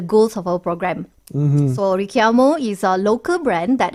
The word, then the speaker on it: Richiamo: And yes, the name Richiamo actually pronounced as Richiamo. It is an Italian word translated to call.